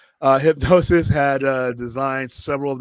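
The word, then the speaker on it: Hipgnosis: hardle uh dude hip it's hypnosis but it's spelled all up uh hypnosis had uh designed several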